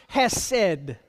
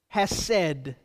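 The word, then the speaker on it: חֶסֶד: meaning of this word the Hebrew word is pronounced has said has said and it's defined as a deep sense of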